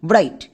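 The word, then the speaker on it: bright: এবার আমরা জানি যে আই এর পরে থাকলে সাইলেন্ট থাকে তার মানে জিএইচ এর উচ্চারণ করতে হয় না সো এখানে জই সাইলেন্ট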